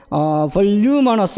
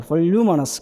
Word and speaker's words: voluminous: 그 다음에 voluminous 할 때 이렇게 발음이 돼요. voluminous. 그러면은 루잖아요. 그죠? 루에 여기에 강세가 주어진단 말이에요.